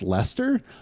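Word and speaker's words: Leicester: City uh semen about they have a pronounced Lester oh I think I've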